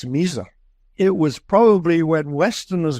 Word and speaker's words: Misr: Yeah, Misr. Usually, if you spell it in English, it's usually M-I-S-R.